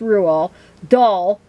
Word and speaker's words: Roald Dahl: come across about rule yeah it's pronounced rule doll and his books because